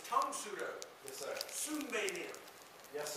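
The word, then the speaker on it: Tang Soo Do: And a lot of people say Tang Sudo. You hear it all the time. It's Tong Sudo.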